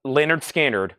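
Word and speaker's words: Lynyrd Skynyrd: I have one Leonard skinnard left 45 RPM pronounced Leonard skinnard I'm a simple kind of man free bird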